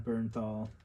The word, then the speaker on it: Bernthal: I think the last video I didn't say his name right, but John Bernthal.